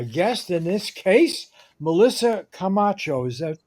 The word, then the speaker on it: Camacho: in from my guest in this case Melissa Camacho is that pronounced correctly yes uh who is the senior